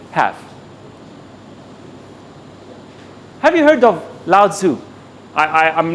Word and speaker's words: Lao Tzu: Have you heard of Lao Tzu? I'm not sure I'm pronouncing the name correctly because it's pronounced in many ways, but he's a philosopher.